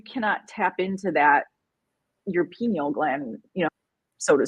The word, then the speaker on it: pineal: there there's and it's it's pronounced pineal not penal um sorry well you